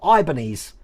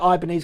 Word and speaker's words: Ibanez: here's another one see i pronounce it ibanez i've always pronounced it ibanez